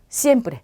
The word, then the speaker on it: siempre: 그래서 전부 다 쌍시옷으로 발음이 되고요. 쓰로 발음되기도 하죠. 그래서 여러분들은 편한 발음으로 그대로 해주시면 돼요. sombrero, sábado, siempre 이렇게요.